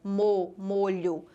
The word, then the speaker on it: molho: verbal do verbo molhar vejam que a primeira pronúncia a letra O saiu fechada molho e a segunda pronúncia a letra O saiu com som aberto bom então se trata